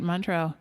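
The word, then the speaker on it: Montreux: Queen was in Montro, is that how you say it? That's right. Montro.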